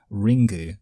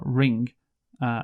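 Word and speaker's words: リング: um so yeah also in Japanese it might be pronounced ringu I think that's what you ringu yeah oh Ringle oh like that yeah that is how it would be pronounced obviously in Japan yeah uh but anyway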